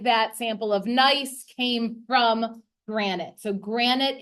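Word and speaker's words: gneiss: foliated banding that's nice I know it doesn't look like it's pronounced nice but it is and the other one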